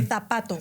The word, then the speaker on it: zapato: Like and SH, they pronounce the Z and the C with a vowel after it as you would TH. So I say zapato for shoe. They say zapato.